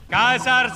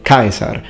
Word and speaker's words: Caesar: In ecclesiastical pronunciation, for example, you don't say Caesar, you say Caesar.